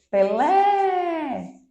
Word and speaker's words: Pelé: o caso de pele Pelé na última sílaba mais forte né a gente segura por mais tempo eu tenho aí um